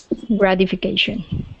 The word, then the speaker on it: gratification: the concept okay um this word here is gratification grad Gra ification gratification there you go nice okay let's go